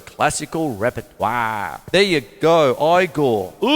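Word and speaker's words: Igor: works in the classical repertoire there you go I Gore you must be the eagle now it's pronounced there we are so one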